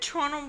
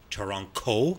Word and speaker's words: Toronto: And in Mohawk, and forgive our Mohawk listeners, Toronto, I think it's pronounced with a K, means sticks in the water.